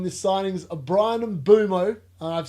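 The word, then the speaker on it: Mbeumo: We want your insight on the signings of Brian and Bumo.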